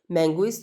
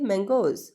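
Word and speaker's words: mangoes: मैंगोइज तो नहीं ना हम लोग कह रहे, हम लोग क्या प्रोनाउंस करते हैं? मैंगोज।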